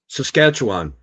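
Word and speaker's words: Sacsayhuamán: Saqsayhuaman.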